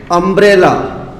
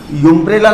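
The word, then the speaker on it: umbrella: अब बात हो रही है अम्ब्रेला, यूम्ब्रेला नहीं होता है, अम्ब्रेला होता है।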